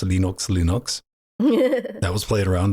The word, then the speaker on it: Linux: know hello my name is Lenos and I pronounce Linux Linux that was played around that I originally